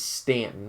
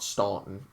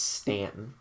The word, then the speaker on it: Staunton: district which includes charlottesville shenandoah national park harrisonburg stanton by the way that is pronounced correctly it is stanton not staunton it's stanton uh it also includes winchester and there's a